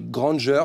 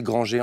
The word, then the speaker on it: Granger: Emma Watson hermion Granger je dis je prononce bien c'est Granger je suis où on dit Granger la version anglaise et Granger en françaiser plutôt Harry Harry Poter